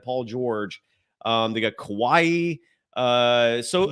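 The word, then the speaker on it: Kawhi: you always G Kawaii it's Kawai Ka uh there's no e at the end there just Kawai that's what I said though I'm I'm I'm I'm not hearing myself mispronounce it I apologize uh Kawai okay no not Kawaii that's it's Hawaii and it would be like Kawaii except there's no eai Kawai like Kawai Kawaii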